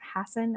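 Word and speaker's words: Hassan: was happening in the Senate and uh Senator Hassen am I saying it right yes from out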